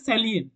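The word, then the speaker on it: salient: feature এই যে প্রোনাউন্সিয়েশনটা এই ওয়ার্ডটার প্রোনাউন্সিয়েশন হচ্ছে সাইলিয়েন্ট নট সাইলেন্ট ওকে অনেকে কিন্তু ওটা ভুল করে ভুল করে সাইলেন্ট সাইলেন্ট বলে কিন্তু এটা একচুয়ালি একচুয়াল যে প্রোনাউন্সিয়েশন হয় সেটা হচ্ছে স্যালিয়েন্ট okay S এল আই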